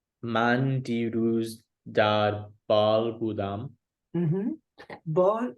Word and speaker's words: Bâle: Bâle is the French pronunciation of the city Basel in Switzerland.